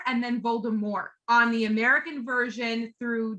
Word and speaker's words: Voldemort: dale started off pronouncing dropping the t like the french pronunciation and then and then